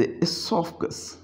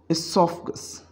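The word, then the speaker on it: oesophagus: And here is एसोफगस, एसोफगस। ओ को हम बिल्कुल खामोश यहाँ पे कर दिया करते हैं।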